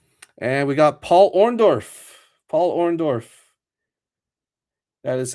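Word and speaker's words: Paul Orndorff: Paul Orondorf. That is how you pronounce his name.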